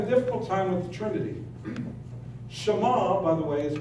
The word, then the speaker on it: Sh'ma: Jews have a difficult time with the trinity shama by the way is pronounced shama as I had explained earlier so what is